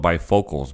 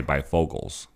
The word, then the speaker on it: bifocals: It's spelled bifocals, but I say bifocals. There's no G in it.